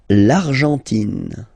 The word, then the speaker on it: Argentine: L'Argentine. Okay, so you've got this nasal here. En, l'argent, and then tin. Don't pronounce the final it just gives you the pronunciation of the N. In. L'Argentine.